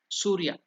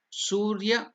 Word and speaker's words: Surya: That is after the Gandhadinam Archanam, it is the worship of Surya. Surya Arghya Pradhanam. The step, name of the step is there, you can see. Su is Dirgha, elongated. Surya.